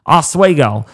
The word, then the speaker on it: Oswego: Oswego. That's a tough one to pronounce sometimes if you're not used to pronouncing names like me.